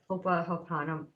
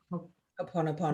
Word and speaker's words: Ho'oponopono: She had us say I can't pronounce the word very well, the Hawaiian reconciliation practice, Hopa Hopana, Ho'oponopono.